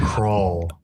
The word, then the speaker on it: Krull: Crawl. Oh, sorry. No, I'm asking. I thought you were like fixing my pronunciation. Yeah, no, yeah. Like I thought I did it right. Crawl. Yeah, it's like a skull, Okay.